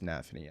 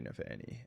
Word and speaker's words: nafany: I think it is Nafany. I do say Nefanni. And I think it's just because of pronunciation. It's easier for me.